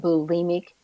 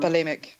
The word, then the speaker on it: bulimic: Well, I know with the blue blue, how do you pronounce that? Blemic. Um, bulimic.